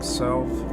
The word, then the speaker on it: salve: Salve his guilty conscience. Is that how that's said? Salve? Salve? Learning words. Salve. Yeah, as a verb, it means to soothe. Salve. Pronounced salve, apparently.